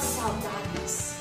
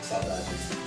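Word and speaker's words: saudade: It's called saladis. What's the word? Salajis.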